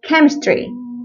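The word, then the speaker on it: chemistry: الممارسه والتكرار عرفنا ان هي اسمها كده وكمان كيمستري كيمستري وكلمه شخصيه كراكتر كراكتر كراكتر طبعا الحاجات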